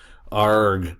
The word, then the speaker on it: arg: when you say this please say it like a pirate ARG Z um and that's